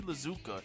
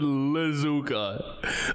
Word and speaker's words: Iizuka: Bro said Lizuka. I'm sorry. I'm not trying to be rude, but like, it is just stopping me in my tracks every time. Lizuka. There's no way, bro. Bro, there's videos out there of people pronouncing it the way it's pronounced. Oh, yeah. No, that's not an accent. No, you gotta be trolling at this. No, that's not an accent to add an entire letter at the beginning.